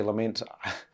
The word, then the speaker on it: LMNT: shoot to is um element now I don't know if that's pronounced incorrectly or whatever it's spell l m n t you could say lament I'm saying element cuz I think kind of sounds what it's meant to sound like um it's a hydration